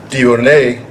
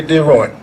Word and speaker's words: Deroine: Deroine is how the French would say it. But most of you would say Deroine, the Americans.